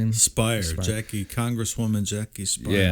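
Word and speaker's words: Speier: Spire.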